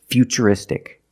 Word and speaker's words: futuristic: the T as ch, and we see T-U-R-I in futuristic. Again, the T is pronounced with the ch sound. So the first word, future, and the second word is futuristic.